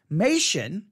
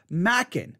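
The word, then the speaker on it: Machen: Now, what is funny is no one seems to know how to pronounce the name because I was taught Mation. I think I was taught Mation in at least, I think, one school, Mation, but I've heard other people say Mackin.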